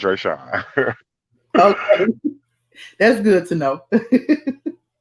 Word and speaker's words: Dreasjon: did Dreasjon, even and his name is actually pronounced Dreasjon. Fatima, the lawyer yesterday, she's the person who mispronounced his name because it's not Dreasjon. It's, Okay. it's really Dreasjon. It's not Dreasjon. It's Dreasjon.